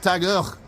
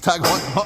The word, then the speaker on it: TAG Heuer: As we pass Truda Tag Heuer, I used to pronounce it Tageur. It's Tag Heuer.